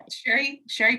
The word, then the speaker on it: Sherry: Look, it's Sherry with the C. It's pronounced. It looks like cherry, but it's pronounced like sherry, like the wine.